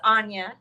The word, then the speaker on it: Onya: It's Anya.